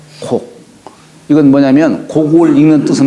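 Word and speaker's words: 告: 근데 이 고할 꽃자를 곡이라고 읽어요. 윗사람한테 얘기할 적에는 이제 아련다 이런 뜻이죠. 그죠? 고할 꽃자로 쓰는 게 아니라 윗사람한테 뭔가 저 어디 다녀오겠습니다. 나아갈 적에는 반드시 윗사람에게 고하는데 요걸 읽을 적에는 대개 곡이라고 읽어요.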